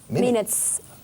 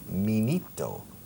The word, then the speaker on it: minute: Ahora bien, la pronunciación es minito, minute, minute, minute. La primera sílaba rima con la segunda, minute.